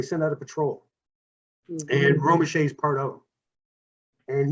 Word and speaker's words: Romesha: Is that how it's pronounced? Romeshay? Romeshay, yeah.